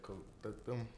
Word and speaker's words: coquito: I'm not gonna lie, when you said coquito. He can't even get it out. Say it one more time.